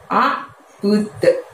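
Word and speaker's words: أعبد: dan ditutup dengan lafadz a'bud. Nah, pada saat mengucapkan tadi, mulutnya tidak dibuka lebar, dan pada saat melafadzkan budnya tadi itu kita mantulkan ya suaranya bud, seperti ada suara d dengan ringan bud gitu ya.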